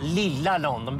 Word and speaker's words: Lilla London: jag kallar Göteborg Ja Lilla London betoning på Lilla så fall Nej SK